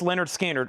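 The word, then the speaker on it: Lynyrd Skynyrd: Pronounced Leonard Skard on the original the original Sounds of the South label.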